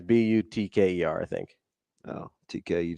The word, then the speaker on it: Butker: But it's not butter. I know that. So the K is not silent.